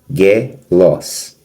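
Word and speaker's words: ἄγγελος: Ele, na verdade, esse G anterior, ele soa como ni, ele soa an. Então nós dividimos angel los como não tem grupo consonantal aqui, o an ele é uma pronúncia parte, ele é terminado com o final em ni. Se terminar com o final em ni ou mi, você separa a sílaba. A gente vai ver já mais à frente, já nos próximos pontos. Então é angelos.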